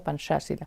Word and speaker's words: Pancasila: me ha dicho que se escribe Pancasila, pero se pronuncia Pancasila.